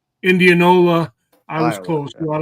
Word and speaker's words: Indianola: How do you pronounce it? In in Indiana. Indianola. Indianola.